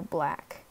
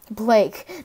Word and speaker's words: Blake: To find good tags, use Tube Buddy extension and follow YouTubers that help with YouTubers grow like Roberto Black. Okay, thanks. Blake, not Black, sorry.